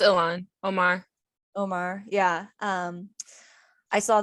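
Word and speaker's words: Ilhan Omar: um congresswoman omar um i don't want to mispronounce her name um oman yeah i believe it's ilan omar omar yeah um i saw that her office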